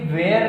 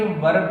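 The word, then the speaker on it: were: कुछ को दिक्कत होगा, सर आपने इसे वेयर नहीं पढ़ के वर्ब पढ़ा। बिल्कुल सही बात है दोस्त, WER आप लोग वेयर पढ़ते हैं, सही प्रोनाउंसिएशन इसका वर्ब होता है।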